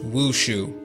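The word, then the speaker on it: 武术: Martial arts would be written this way, pronounced wushu.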